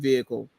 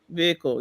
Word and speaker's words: vehicle: vehicle usually like um Americans pronounce it with the H very like concisely whereas I completely remove H in Canadian southern thing I think vehicle vehicle vehicle yeah maybe in the